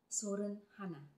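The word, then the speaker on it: 서른하나: Sa Korean letters, wala silang L. So, meron silang real. So, ayan. Meron silang real. Pero binibigkas nila yon ng R. Pag isusulat nila is L. 31 sa kanila is Sorun Hana. Ganun yung pagbigkas nila. Pero yung pagsulat nila is L.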